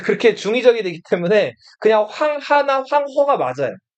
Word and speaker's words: 황하: 황 하라고 불러요. 근데 하를 중국어로 읽으면 허라고 읽기 때문에 황허라고 읽기도 해요.